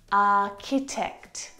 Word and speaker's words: architect: Architecture, architect, architect.